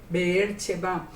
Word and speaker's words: Beersheba: Que es como sería la pronunciación mejor en hebreo. Beersheba.